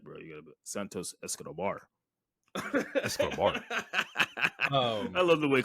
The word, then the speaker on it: Santos Escobar: you gotta say it right bro you gotta Santos Escobar escar I love the way Caro says that